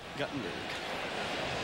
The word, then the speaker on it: Guttenberg: Yep, Guttenberg. Yeah, we got letters. I think I mispronounced it earlier this year, and we had a lot of letters from Guttenberg.